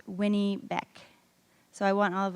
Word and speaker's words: Winnipeg: muddy waters and it's actually pronounced Winnie it's pronounced Winnie back so I want all of us to say